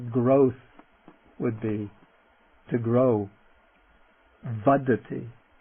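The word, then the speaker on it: vaḍḍhi: Vadi vadi vadi first the non-aspirate vad followed by the aspirate dy vi or the noun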